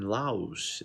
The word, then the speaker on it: Laos: Also, we got some situation in Laos, if I'm not mistaken. I believe this is the way to pronounce it correctly.